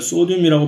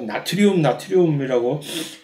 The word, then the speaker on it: 소듐: 둘 다 소듐이나 이제 이 클로린 염소, 소듐, 클로린 이것을 소듐이라고 이제 한 습관을 소듐이라고 발음하는 습관을 길러 주시기 바랍니다. 이것을 계속해서 나트륨이라고 배워왔던 지금은 아마 안 그럴지도 모르겠으나 벌써 이제